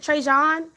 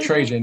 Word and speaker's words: Trajan: your question i think how do you say your name is it treyjon it's trajan yeah trajan okay i'm gonna put